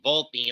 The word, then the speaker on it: Volpe: If you look at the name in Italian, Volpe, or pronounced as Volpe, it translates to fox.